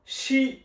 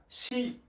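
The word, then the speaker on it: し: উচ্চারণ কি হবে? সা। দ্বিতীয় বর্ণটা হলো শি। দ্বিতীয় বর্ণটা স্ট্রোক হলো একটা, শি।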